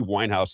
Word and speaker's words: Weinhaus: His name is Jeffrey Winehouse, and it's spelled Weinhaus.